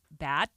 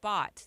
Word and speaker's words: Bott: Well, my last name is Bott. It rhymes with Scott. Oh, okay. Bott.